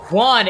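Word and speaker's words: Hwan: oh okay I'm sick of this bro it's Juan h w n not j u a n that's just like how you pronounce it like how am I supposed to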